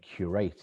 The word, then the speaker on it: Qureight: So for us, it's all about the data, hence our name, Qureight. It's spelt unusually, but it's a play on words of a museum curator, someone who curates data and takes the highest quality data to put into these trials.